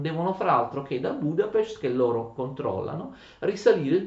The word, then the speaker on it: Budapest: Attenzione, si legge Budapest.